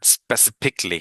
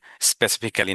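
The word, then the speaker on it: specifically: Kindly একটু আমাকে হোয়াটসঅ্যাপে নক করবেন, এবং অবশ্যই স্পেসিফিকলি বলবেন, স্পেসিফিকলি, হ্যাঁ, স্পেসিফিক্যালি না কিন্তু, স্পেসিফিকলি আপনি আমাকে লিখবেন যে আপনার ওই যত ভুল উচ্চারণ, এই ভিডিওটা আমাকে দিবেন বা একটা স্ক্রিনশট নিয়ে আপনি দেবেন।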